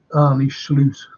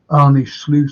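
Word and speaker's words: Arne Slot: and say you know look at at uh Annie SLO that's how you pronounce his name by the way Annie SLO and say um oh he's like CL please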